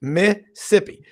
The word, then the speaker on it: Mississippi: That's 2 syllables, Mississippi.